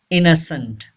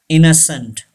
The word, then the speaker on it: innocent: cough cough number ten innocent yes and is second n is not pronounced and e is also not pronounced innocent say this word innocent innocent thanks for watching this